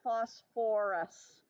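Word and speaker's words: phosphorous: remind you who are the two weird ones that have three syllables so for ER and Foss or a sulfurus and phosphorus okay I will also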